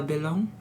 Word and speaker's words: Belon: My name is Bella Balon.